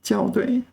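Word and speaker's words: 校对: I mean, obviously I'm going to get it wrong because the first character is almost always pronounced 校, as in 学校, 校园. Here it's 校对.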